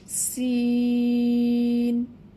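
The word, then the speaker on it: سين: অর্থাৎ জিহবার আগা সামনের নিচের 2 দাঁতের পেট ও আগার সাথে লাগাইয়া সিন সিন উচ্চারণ করতে হবে।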